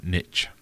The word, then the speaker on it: niche: a lot of Americans instead of saying Niche say niche even to the point where